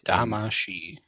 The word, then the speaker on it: Damacy: it's a she at the end. Damacy.